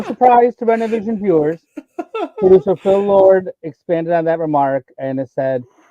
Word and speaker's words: Phil Lord: His name is Phil Lord. And that's how it has to be pronounced, please. Thank you very much. Wouldn't it be Philip? No. Phil Lord. He didn't name Phil. He named Phil Lord.